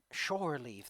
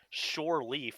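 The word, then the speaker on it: shore leave: on land sure leave that's the term which i mispronounced shortly for a very long time damn it claire i don't know why but like any time i heard shortly if i kept saying sure leaf and i was like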